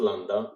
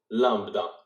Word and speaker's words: lambda: It is not lambda, it is lambda. It is spelled like this, Lambda.